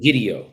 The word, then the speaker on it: Egidio: All right, how do I pronounce it? Egidio. That's it. Egidio.